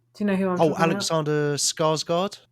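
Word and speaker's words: Skarsgård: it's got it's got alexander how do you pronounce his last name scarlet do you know who alexander skarsgard skarsgard that's right yeah it's got florence pew from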